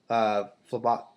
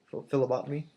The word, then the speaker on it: phlebotomy: I recently got my certificate in phlebot. How do you pronounce that? Phlebotomy.